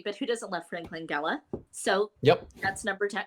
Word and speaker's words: Langella: So number 10, I have the version of Dracula from 1979, starring Frank Langella.